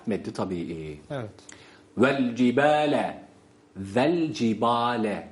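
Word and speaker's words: وَالْجِبَالَ: tabii Evet vel cibale vel cibale şeklinde yine hatalı okuyuşlar arasındadır bir Vav ve v değil ve şöyle okunuyor V cib cib vel cibele hareke vermiş oluyoruz böyle okursak ama halbuki burada lam sakindir lamı tarifin izharı vel cib vel cib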